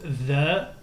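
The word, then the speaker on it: ث: Donc, et ça, c'est la lettre THA, THU, THI, ETH. Le THA, THU, THI, ETH, c'est un peu le THE anglais. Hein. La lettre THA se prononce comme le THE anglais.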